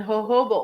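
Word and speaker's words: jojoba: oil so of course I didn't know how to spell it and I went to the the local store and I said hey I need hoba oil and it started with a JJ and I'm like okay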